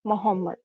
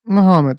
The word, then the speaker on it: Muhammad: Um there is uh there is a particular messenger named Muhammad. Anybody knows? I don't know how to pronounce his name. Muhammad.